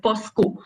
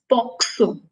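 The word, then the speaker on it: POCSO: talk about poxo and a lot of people mispronounce it as Poco but U uh it is first of all not posco it is poxo it is p CS o and uh the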